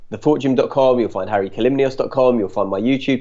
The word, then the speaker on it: Hari Kalymnios: be by my main website now my name is spelt a bit weird it's Harry calumnious so that's H a RI k a ly